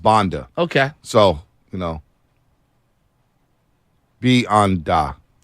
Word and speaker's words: Banda: Pronounced Banda.